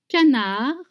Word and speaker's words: canard: Confie de canard, pomme, grenaille. Grenaille. You have the eye sound. Again, don't pronounce the consonant at the end of confit and canard.